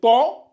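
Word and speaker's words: طاء: et lui c'est le si vous lisez ça ta et vous lisez ça ta c'est faux donc ça aussi beaucoup de mes élèves au début ils avaient ces difficultés là il confondait beaucoup les deux lettres là il lisait ça ta je l dit non c'est pas ta c'est lui c'est ton et lui c'est ta to et ta to et ta donc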